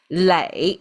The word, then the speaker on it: 磊: Lei is the pronunciation.